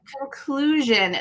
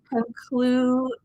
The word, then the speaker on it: conclusion: Conclusion. That S at the end is tricky. Conclusions. There's a lot of vibration that's happening. Conclusion.